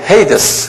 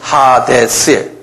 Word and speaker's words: 하데스: 영어로는 헤이데스 그러는데, 그대로 발음되려면 하데스예요. 헬라 말로는.